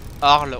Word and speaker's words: Arles: Arles, on dit bien Arles, alors qu'il y a un S à la fin.